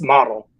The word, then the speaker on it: MAD*L: It's model like model airplane.